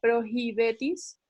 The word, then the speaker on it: prohibetis: La F, lo importante era que supieran que el sonido, la H se pronuncia como un sonido aspirado, o sea que sería prohibetis. La G, un poco lo